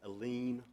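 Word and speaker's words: Alleyne: sentencing the first was a Leen or Allen depending fund pronunciation which addressed the ability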